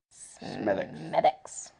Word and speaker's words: Smithwick's: But we also went to the Smithwick's Brewery, and it's spelt Smithwick's, but it's pronounced Smithwick's.